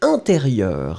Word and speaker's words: intérieur: And the last thing, it was intérieur. Hein? Le ministre de l'intérieur. Intérieur, you will write it like E-N. Remember, it's a nasal, so everything is going in the nose. You don't pronounce any N.